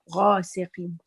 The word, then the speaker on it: غاسق: Is it غاء or غا? غاسق. Very good. غين. It's heavy. ومن شر غاسق.